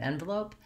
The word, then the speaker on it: envelope: the word envelope, but both of them have the same pattern of first syllable stress.